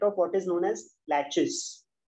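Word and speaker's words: laches: is a concept of what is known as latches it's spelled as l a c h e s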